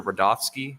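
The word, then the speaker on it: Rudofsky: well special agent Peter rovski that's Ru d o FSK Ki and it's pronounced Rudolph and then ski all right special agent rolski how you doing today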